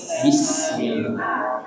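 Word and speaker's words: بسم الله: tiga dengan sin ya ada yang bismillah bismillah ya membaca jadi yang betul bis ada desisnya bis ya ada sinnya bismillah Baik, cukup Bapak Ibu ya.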